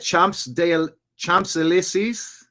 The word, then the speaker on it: Champs-Élysées: Champs-Élysées? Actually, I'm going to ask Grok. Check this out. You got to be using AI. Pronunciation. Champs-Élysées. Champs-Élysées. Champs is Champs. Élysées is Élysée.